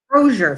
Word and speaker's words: Crozier: And Vern, pardon me for not pronouncing this last name, Vern Crozier, Crozier, thank you.